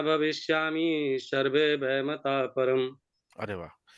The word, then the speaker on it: भविष्यामः: और भविष्यामि की जगह भविष्यामः पर बहुत अच्छा आपका भविष्यामि।